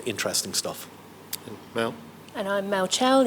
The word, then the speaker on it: Mel Chell: And I'm Mel Chell, yes it rhymes.